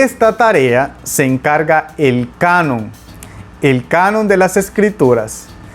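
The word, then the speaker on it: κανών: también instrumento de medición es una palabra griega que se escucha a sí mismo como en el español canon lo único que se escribe con k y probablemente tuvo su origen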